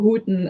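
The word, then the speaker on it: Houten: the how in show The Who Am I pronouncing that right the Hooten show um yes it's out no Hooten it's fun to say either way that's not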